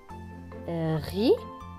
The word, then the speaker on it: rit: Mario rit. Le T à la fin est écrit en gris, donc il ne se prononce pas.